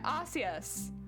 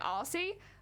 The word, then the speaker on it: Arceus: Yeah, Arceus. Arceus. Pronouncing Wait, no, I think I've been pronouncing it wrong probably because I've been calling him like Arcee, but like, you're all good.